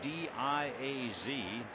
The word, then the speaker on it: Diaz: The pronunciation D-I-A-Z, Diaz. His family is from Barcelona, Spain. That's the way the grandfather pronounced the name, and that's the way it is.